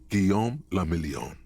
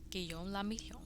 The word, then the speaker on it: Guillaume le Million: Guillaume le Million. Guillaume le Million. That's fun to say. If it doesn't rhyme, you're not pronouncing it right.